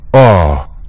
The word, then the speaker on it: awe: oh it's a w e oh and its pronunciation is going to be like this oh you see that oh okay it means it's